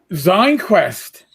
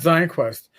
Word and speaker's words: ZineQuest: kickstarter that means uh i'm going to make sure i pronounce this right uh zine quest oh not zion quest you know potato potato